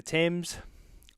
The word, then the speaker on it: Thames: cool um overlooking the thames it took me so long to understand thames because it's about t-h-a-m-e-s it makes no sense at all but that's that's how they pronounce it um yeah so and